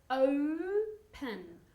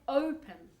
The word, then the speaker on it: open: Open. O. Like with the O-U. Open. Okay? Open.